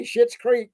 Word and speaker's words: Schitt's Creek: They'll say Schitt's Creek because it's not spelled like Shit, so you can say it, even though it sounds exactly the same.